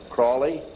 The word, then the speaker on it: Crowley: learned about with Aleister Crawley he likes to bring have his name pronounced Crowley to rhyme with holy and the sadness today